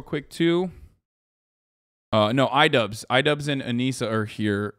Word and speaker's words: Anisa: Is that how you say it, or is that because I was saying Anisa earlier and people are like, that's wrong? Yeah, it's Anisa. Yeah. Anisa would be with 2 S's.